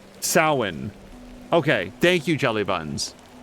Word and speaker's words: Samhain: It's got a pronunciation that doesn't go with, like, it's like a Celtic word, so the letters don't go together. Samhain.